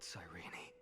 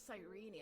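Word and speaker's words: Cyrene: my eyes that murderer killed Cene oh it's sirene I've been pronouncing it wrong this whole time but I saw its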